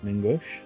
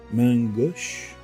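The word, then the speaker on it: main gauche: he had two uh mangua ningosh mangosh i think that's how you pronounce it um mangosh it's french the daggers with the basket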